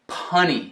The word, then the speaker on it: punny: Mas quando colocar outro N, torna-se punny. Tipo uma piada que é engraçada porque é um trocadilho, é punny. Rima com a palavra funny, engraçado. E se funny não tivesse outro N, seria funny.